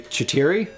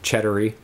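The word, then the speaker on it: Chetiry: castle and sorry yes I'm gonna pronounce it incorrectly chitiri there we go thank you for pronouncing it first I always get it wrong and say it like cheddar or something cheddary there we go um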